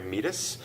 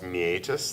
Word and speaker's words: meatus: that the external auditory meatus you might hear pronounce me aegis that's fine we also have this